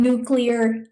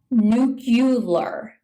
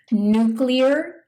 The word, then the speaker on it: nuclear: involving the nucleus of an atom, like in nuclear energy. Some people mispronounce this as nuclear. Even one former US president mispronounced it that way. It is nuclear. The power plant generated electricity through nuclear fission reactions.